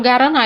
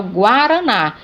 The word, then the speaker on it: guaraná: Porque o U é pronunciado. Eu não falo guaraná, eu falo guaraná.